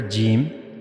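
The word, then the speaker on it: ج: For pronouncing this letter gimm, we have to use the middle of the tongue.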